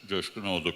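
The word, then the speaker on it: Coşkunoğlu: My name is from Turkey. Coşkun oldu, correct pronunciation.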